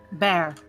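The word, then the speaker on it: bier: a stone beer or b-i-e-r i don't know how that's pronounced bear bear thank you um so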